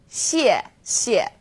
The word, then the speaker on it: 谢谢: You can think of it kind of like the word she and she. Not too hard, right? 谢谢.